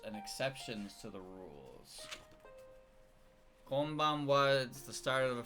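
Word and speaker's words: こんばんは: Because when you say konbanwa, it's in konbanwa, and it's pronounced as fucking wa, even though it's written as ha.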